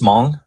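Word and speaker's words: Hmong: See our resident historian uh knows all um among so where it's just mong you don't that the h is silent yes okay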